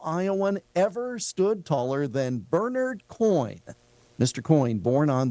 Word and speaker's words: Bernard: was a relative, and they pronounced it Bernard, and I thought you would like to know. Well, absolutely. I mean, we strive for accuracy. Getting the guy's name wrong would be horrible. So, yes, it looks like Bernard, but his name was Bernard Coyne.